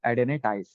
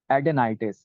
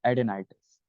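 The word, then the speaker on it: adenitis: एडेनाइटिस, एडेनिटीज, एडेनाइटाइस, अलग अलग प्रोनाउंसिएशन हम लोग इसके करते हैं, ठीक है। और एक्चुअल प्रोनाउंसिएशन जो यहाँ पर होगा वो होगा एडेनेटाइस, सॉरी, एडेनाइटिस, एडेनाइटिस, है ना। ये प्रॉपर प्रोनाउंसिएशन इसका होगा, ठीक है।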